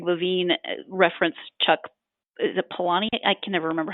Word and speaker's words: Palahniuk: previous interview, Greg Levine, referenced Chuck, is it Palahniuk? I can never remember how to pronounce his last name. But Palahniuk.